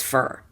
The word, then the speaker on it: for: 99% of the time you're going to pronounce the word for as fur let me demonstrate the